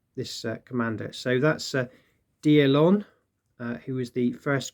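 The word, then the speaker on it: d'Erlon: to Rusty uh for his assistance with the pronunciation of uh of the this Commander so that's a deal on uh who is the first core commander see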